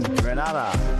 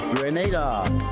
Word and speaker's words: Grenada: So today, like we Germans say, we are in Grenada. But I heard in English it's called Grenada. Say it right. Grenada. Say it right. Grenada. That's right. Grenada. There we go. Say it right. It's Grenada. It's not Grenada. It's Grenada.